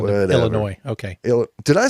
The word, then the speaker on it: Illinois: located in Illinois. There is no S. You don't pronounce the S at the end Whatever. of Illinois.